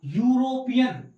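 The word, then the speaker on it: European: क्योंकि सर इसका जो प्रोनाउंसिएशन है वो देखिए क्या है, या क्या है सर, या यूरोपियन, यूरोपियन इसका प्रोनाउंसिएशन ये तो आएगा। तो यूरोपियन या क्या आ रहा है सर, या आ रहा है।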